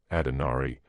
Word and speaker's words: Adonari: reproduced on page 452 the Hindu goddess adari or as it might be more properly written adari since the second is pronounced almost like the English o is represented as surrounded